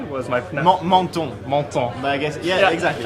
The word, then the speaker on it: Menton: Menton. But I guess, yeah, exactly. Okay. Menton, exactly.